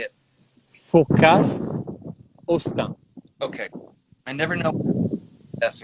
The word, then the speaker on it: Fourcas Hosten: Tell us the history of Chateau and pronounce it slowly for me. Fourcas. How do you say it? Fourcas, Hosten.